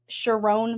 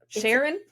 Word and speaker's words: Sherrone: of the former University of Michigan head coach Sherrone Moore? I think that's how you say it. It's s h e r r o n e. Sherrone. Sherrone. Sherrone. Sharon?